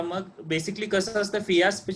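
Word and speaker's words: Fiasp: फिलॅरस नाही, इन्शुलिनचं नाव तुम्ही चुकीचं सांगताय. फिलॅरस. हॅलो, फिलॅरस 5 आहे सर, जेवणाआधीचं.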